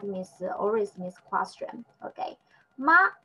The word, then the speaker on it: 吗: Ma, the pronunciation just like a second tongue, just the rise up.